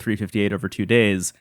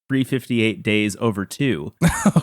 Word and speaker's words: 358/2 Days: and on that episode I called it 358 over two days not realizing that the actual way you're supposed to pronounce it is 358 days over two oh no which uh